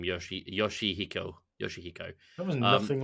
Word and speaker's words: Yoshihiko: Speaking of Japanese wrestling, have you ever heard of Kota Ibushi versus Yoshikoki? No. So I've also butchered that person's last name, Yoshihiko.